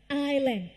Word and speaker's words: island: 4 island 3 4 ห้ า ม อ อ ก เ สี ย ง ตั ว S เ ด็ ด ข า ด ค่ ะ เ ก